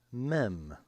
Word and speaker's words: Mem: The next letter is Mem, pronounced M.